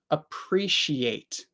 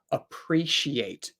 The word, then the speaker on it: appreciate: to it okay so in British English um they say appreciate appreciate um I definitely don't say that um appreciate H so I guess standard American English many people also say it like that appreciate um I definitely don't make a e sound I say it more of a I or an S sound appreciate but yeah many